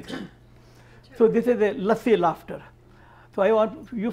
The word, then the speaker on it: lassi: laughter then you know what let's say is lassi l a s s i nilam can you pronounce in English it's an Indian yogurt drink